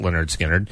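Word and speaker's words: Lynyrd Skynyrd: was originally released was on Leonard Skinner's first album, pronounced Leonard Skinnard.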